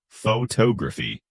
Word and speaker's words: photography: So in photography, the second syllable gets the stress, photography.